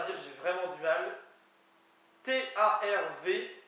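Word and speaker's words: tarv: T-A-R-V, qui se prononce T-A-R-W, tar, qui vient apparemment de taureau et qui peut être utilisé pour coureur de femmes que tard.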